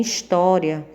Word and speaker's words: história: palavras também não porque porque em história o som representado pelo ó é aberto e em ônibus ele é fechado a mesma questão da